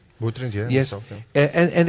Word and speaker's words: Utrecht: This summer I visited, I hope I pronounce it right, Utrecht? Utrecht, yeah.